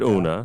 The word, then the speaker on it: Una: And she said Una.